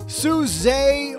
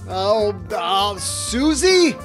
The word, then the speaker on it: Suze: welcome to the basement Suze Orman. What? What do you mean that's not how you pronounce it? Susie?